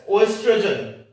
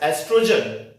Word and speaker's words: estrogen: We will not pronounce this word as oestrogen. We will pronounce this word as estrogen.